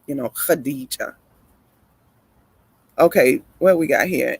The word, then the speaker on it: Khadija: Usually a KH like that is Arabic's pronounced like with a harder h sound on it, like Khadija.